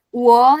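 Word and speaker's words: 我: Wo itu kita udah pelajarin di pinyin, dibuka lagi ya pinyinnya tadi yang bab 1. Wo dibacanya WO.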